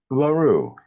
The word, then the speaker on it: Laru: Laru. A very, very French.